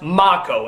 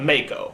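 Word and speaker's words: Mako: been telling me that his name is pronounced mock Oh instead of make oh but to be honest I've heard it both ways I've heard a lot of people call him Mego in the past does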